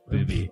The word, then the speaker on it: Bauby: It's pronounced Booby. A booby? Okay. The astonishing true life story of Jean-Dominic Bauby, a man who held the world in his